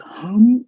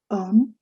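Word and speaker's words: homme: i had mentioned that the french sound system doesn't have her which is why maybe someone who's called maybe hema a frenchman could possibly pronounce that as emma there is no her sound which is why you see this word um and it's not harm it's um that's man which means book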